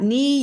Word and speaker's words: knee: so if you're talking you've got knee you could talk about silent letters like the K you could talk about the double e making the long e sound and you have that